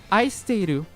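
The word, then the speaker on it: 愛してる: But actually, the first here is Japanese and it's pronounced aisteiru, and it means it means love, to love.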